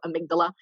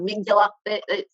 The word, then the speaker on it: amygdala: amy middle initial g last name dala that's the best way to remember it so amygdala it's a very strange what i have clients who call it miguel don't worry if you